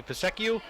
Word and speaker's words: PSECU: I think the appropriate pronunciation would be PSECU.